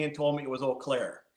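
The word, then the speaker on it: Eau Claire: I first moved to Wisconsin I I I pronounced it uair you did yep yep and and folks let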